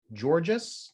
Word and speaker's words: Georges: so next i see georges george george george george so there's an s because that's actually the french spelling jobs and we don't pronounce the s in french so that's why um